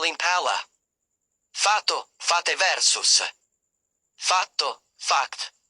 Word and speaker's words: palla: When pronouncing a double consonant, pause briefly before it, hold the consonant sound slightly longer, and stress it more strongly than the surrounding vowels. Examples. Pala, shovel versus palla, ball. Notice the double l in palla.